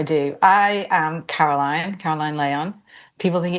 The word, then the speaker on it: Leon: Caroline Leon. People think it's Leon. It's pronounced Leon because it's Spanish, just so you know.